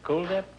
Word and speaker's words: Kuldip: Brenda Daly and Kuldip. Huh? Is that the way you pronounce it? Kuldip? Yes, it is like the word cool.